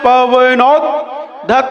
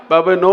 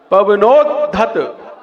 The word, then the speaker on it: पवनोद्धत: कल्पान्ते काल पवनोद्धत नक्र चक्रम। कल्पान्ते काल पवनोद्धत नक्र चक्रम। पवनो नहीं है, पवनोद। आधा दा बोलना है वरना खा जाओगे तुम उसको, है ना। पवनोद्धत, हाँ।